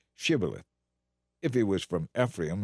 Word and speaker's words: Shibboleth: If a man said, "No, I'm not," they would tell him to say Shibboleth. If he was from Ephraim, he would say Sibboleth, because people from Ephraim cannot pronounce the word correctly.